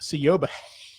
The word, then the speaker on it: Siobhan: Murphy, whose name is properly pronounced Sioba, and Ann Bracewell.